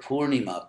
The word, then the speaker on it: Purnima: So there are three vowels, three syllables in that word, and ISKCON devotees generally get all three wrong. It's actually long, short, long.